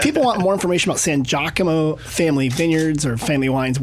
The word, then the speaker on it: San Giacomo: you wines w-i-n-e-s okay San Gia Como people say Sanji Como cause I think of San Diego it's a diff it's